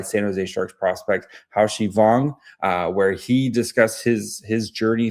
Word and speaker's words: Wang: It's Wang Haoxi. That's how you say it in Mandarin. But in English, we kind of put our last name in the back. So, but Wang, almost like a V sounding, is the best way to go.